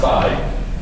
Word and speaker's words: psi: And that thing's pronounced psi.